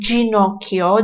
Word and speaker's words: Ginocchio: Yang kalau huruf G diikuti dengan huruf I dan E, jadi dibacanya adalah G, J, ya. Jadi, kayak dibaca kayak huruf J, gitu.